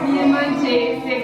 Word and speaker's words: Mirëmëngjes: Mirëmëngjese.